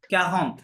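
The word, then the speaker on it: quarante: তাহলে কিউ এর পরে আ থাকলে ক্যা, ক্যাহন্ত মানে পড়তে পারবেন, একটু রুলস ফলো করেন। এই যে আ এন আছে ভিতরে, আ এন থাকলে অ সাউন্ড আসে, তাহলে কি হবে?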